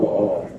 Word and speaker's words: Baal: He's the king of the I don't know how to pronounce the first word. Baal. They follow Baal.